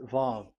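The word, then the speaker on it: וָו: VAV. So it's V as in Vogue. So it's really V. How to read Vogue? So the word, the shape Vav is really pronounced V, like Vogue.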